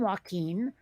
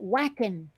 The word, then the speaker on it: Joaquin: That's a Spanish name, Joaquin. But British folks, it comes out whackin'. They say whackin' Phoenix.